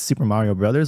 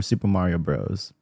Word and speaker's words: Super Mario Bros: me ask you something do you pronounce this Super Mario Brothers or Super Mario Bros I I alternate for sure um like I I I think I default to Super Mario Bros like when I'm just